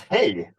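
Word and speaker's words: hej: How do you say hi in Swedish? It's hey.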